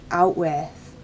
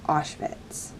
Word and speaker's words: Auschwitz: for example when bruno continuously calls the place out with even though he is corrected several times by parents and adult figures and even his sister he continues to call the concentration camp out with even though it is supposed to be pronounced